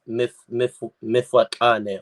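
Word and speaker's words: Mfecane: Or Zulu, I've heard it pronounced as Mifwakane or Difwakane. All right.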